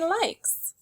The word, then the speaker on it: likes: Say likes. The word likes has an S at the end, as well as an E. The E is silent, but it makes the I say its name.